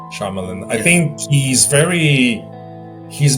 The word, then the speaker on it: Shyamalan: of the I feel like with Night Shalaman, sorry I don't pronounce his name well, but uh Night Shamalan M Knight Shyamalan M Knight Shaman Shamalan Shyamalan I think he's very he's been extremely volatile.